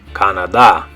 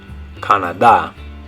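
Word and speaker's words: Canadá: So in English, we would say Canada, but in Spanish, you're going to say Canada. So in English, Canada. In Spanish, Canada.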